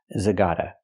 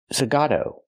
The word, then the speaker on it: Zagato: Martin funky zag what it's not pronounced Aston Martin zagata it's pronounced Aston Martin zagato let's talk about as